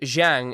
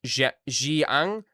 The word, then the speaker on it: Xiang: Um, oh, it is Xin is between sin and shin and Xiang is pronounced the way you would read in English. Xiang Xin Xiang.